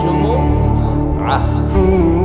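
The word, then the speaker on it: জুমুআহ: অনেকে বলে ফেলে জুমা আসলে আরবিতে শুদ্ধ উচ্চারণটা হচ্ছে জুম আহ সূরাতুল জুমু এই সূরাতে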